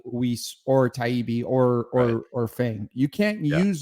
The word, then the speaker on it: Taibbi: Did you just call Matt Taibbi Talib? Oh, is it Taibbi? Yeah, it's Taibbi.